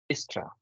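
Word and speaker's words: Dijkstra: s t a right so there's a lot of silent letters within this name but you know I always read it as distra distra because this D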